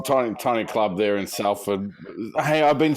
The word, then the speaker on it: Salford: sports how old food cuz it's like salt yeah you say the same way as you do so